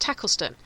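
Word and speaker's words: Tacolneston: Because you've got places in Norfolk that, like, you've got, I think there's one, it's pronounced Tackleston, but it's spelt Talcosneston.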